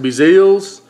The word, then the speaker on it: BeaZell's: great that's right here it's a blip it's pronounced of Brazil's this stuff is awesome this is cajun certified